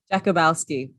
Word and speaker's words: Jakubowski: So just for the sake of all of us, how do you pronounce your last name? Jakubowski.